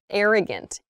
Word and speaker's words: arrogant: sophisticated refined elegant arrogant so we start with the T like the big air a big wide air sound air like air in the like in the room there's air in the room AR arrogant arrogant um but here with